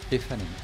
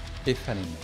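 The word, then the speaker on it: Aephanemer: Hello, this is how you should pronounce the name of our band. Ifanim. Once again, Ifanim.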